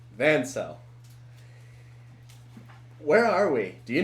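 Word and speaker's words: Vansel: name Madden cell what Ben cell like in cell okay then it's it's spelled v-a-n-s-e-l van cell okay all right van cell where are we do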